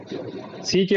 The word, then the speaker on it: seek: SICK, सिक, SICK सिक, लेकिन SEEK सीक। हाँ, ये ज्यादा लंबा जाएगा, ये सीक जो है लंबा खींचेगा और सिक जो है शॉर्ट रहेगा।